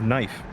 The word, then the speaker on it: knife: Or the K in front of knife.